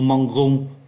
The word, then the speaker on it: mangeons: Je mange, tu manges, il mange, nous mangeons, vous mangez, il mange. Lý do là bởi vì ký tự G khi đi với E, I, Y đọc là J, trong khi ký tự